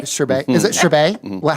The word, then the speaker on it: Chabert: Is that how you say Chabert? Chabert. Is it Chabert? What How do you say her name? I know the T is silent. Lacey Chabert. Chabert. I know there's no T.